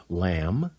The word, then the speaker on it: lamb: when an M is before a be the is silent like in these words lamb limb climb comb can you think of a